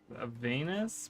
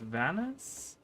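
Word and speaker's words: Vanus: She says Venus, but it's Vanis.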